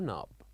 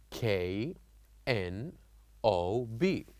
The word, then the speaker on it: knob: word where we write k n o b and we only say n o b like knob knob so the K here is silent so we write K but we don't pronounce it also other example which